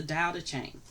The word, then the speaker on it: Tao Te Ching: It's actually TE, but the T is actually pronounced as a D, so it's the Tao Te Ching.